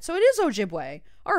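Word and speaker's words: Ojibwe: okay so I was right so it is ojibway all right so I I got there I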